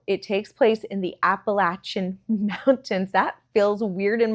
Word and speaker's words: Appalachian: It takes place in the, hold on, Appalachian Mountains. I have pronounced it Appalachian my entire life, but I've been hearing people from the area call it Appalachian. So I'm trying to do that now.